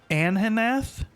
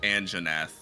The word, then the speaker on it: Anjanath: The chief botist said, "Oh my Ahanoth is or Anhanothath is uh what nasty monster you anhenath." An straight up Anjanath. The J is pronounced.